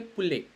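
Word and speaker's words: poulet: And if you want to say like hen chicken, you would say pule, POULLET written as, and it's spelled as pule.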